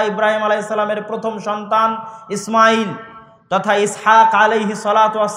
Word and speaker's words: ইসমাইল: আপনি আজও যদি তাওরাত, জবুর, ইঞ্জিল খুলে পড়েন এখনো তাহলে এখনো ইসমাইল আলাইহিস সালাতুওস সালামের নাম পাবেন। আমরা সিন হালকা করে উচ্চারণ করে ইসমাইল।